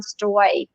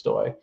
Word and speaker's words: Stoj: It is Stoj. Oh yeah, no, right? It's okay. I trust me, I've heard it all. But yeah, the J is simply pronounced like a Y. So it's Stoj.